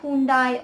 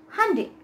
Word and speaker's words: Hyundai: next brand is this and it is not hyundai or honda it's handy hyundai hyundai so the next brand is this